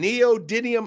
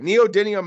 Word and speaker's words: neodymium: I saw out west some neodyium and I don't even think I said it right neodymium magnets that they use